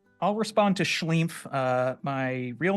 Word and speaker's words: SCHLEEMPH: I'm SCHLEEMPH. It's me, SCHLEEMPH, everybody. I like how you have the double E, so you really it forces you to pronounce like the E, like the SCHLEEMPH.